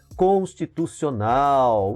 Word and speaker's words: constitucional: Constitucional. O nau é pronunciado com maior intensidade, ela é uma oxítona.